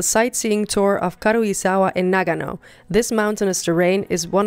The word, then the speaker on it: Nagano: It's Nagano, not Nagano.